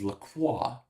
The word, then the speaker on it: Lacroix: It is not LaCroix. It is Lacroix. So I apologize, for mispronouncing your name.